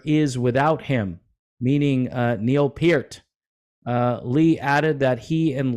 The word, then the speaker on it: Peart: His name is Neil Peart, not Neil Peart.